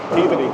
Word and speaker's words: Peabody: Peabody, yeah. That's how you pronounce that word.